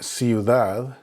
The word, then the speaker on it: ciudad: When there's an E or an I following the C, then it makes an S sound. An example would be centro, which is center, or ciudad, which is city.